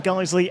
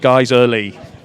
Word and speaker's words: Guiseley: By the way, both sets of fans adding an extra syllable to their team's names. Fylde and Guiseley. That's a little fact for anyone that may not have noticed it. It's actually Fylde's one syllable, Guiseley's two.